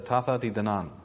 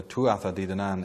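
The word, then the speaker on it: Tuatha Dé Danann: And one of these groups is known in Gaelic as the Tatha Di Danan, or the Tuatha Di Danan if you want the pronunciation in English.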